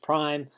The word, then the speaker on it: prime: That little hash mark is is pronounced prime.